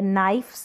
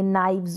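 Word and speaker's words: knives: नाइफ है तो नाइफ का नाइव्स बन गया, नाइफ्स नहीं बोलेगी, नाइव्स, वी का साउंड आएगा।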